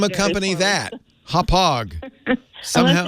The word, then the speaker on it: Hauppauge: It's pronounced Hop Well, Hog. not poorly made. It's well made. This is a very well-known company, Hop Hog, but the spelling, it's a city in Long Island, Hauppauge.